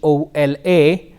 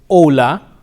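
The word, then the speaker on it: hola: with the letter H however the H is silent it is Ola hombre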